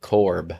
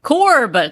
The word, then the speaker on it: Corb: okay it's Alex orbital Corb Corb Corb rhymes with orb orbital yeah the